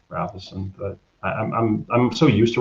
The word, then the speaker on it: Rafelson: No, it's actually Rafelson. I actually like Rafelson better. And like in Europe, like some people say Rafelson, but I'm so used